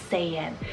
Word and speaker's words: Saiyan: unfading then i have a saiyan spell s-a-y-a-n saiyan and this one means worthy and deserving gallons